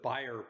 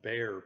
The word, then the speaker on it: Bayer: patent holder of the buyer pattern or bear pattern i've heard it pronounced both ways and what this does